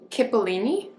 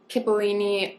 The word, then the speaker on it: cipollini: This onion I'd never heard of, and I might be saying it wrong, cipollini, and it literally means little onion in Italian.